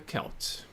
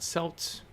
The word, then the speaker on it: Celts: So, it says here the Kelts, and it says that it's pronounced the way I'm pronouncing, not Selt, or Celtic peoples, again